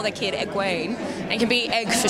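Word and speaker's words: Egwene: especially now that people will know how to pronounce it yeah or unless anyone wants to call their kid egg wayne it can be egg for sure which i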